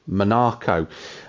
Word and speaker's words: Monaco: league for round six at Monaco or as the great Sterling Moss used to pronounce it monarco uh but for myself